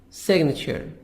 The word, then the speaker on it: signature: The verb sign, in the verb we make the G silent, but in the noun we say signature, a person's handwritten name. We make we pronounce the letter G.